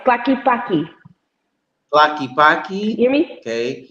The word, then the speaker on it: Tlaquepaque: Tlaquepaque, I can't Clacky, pronounce that. it's Clacky Paki.